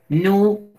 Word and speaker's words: nu: Nu. No se dice N, sino nu.